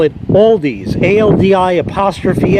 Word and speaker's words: Aldi: As far as Aldi, that's another one.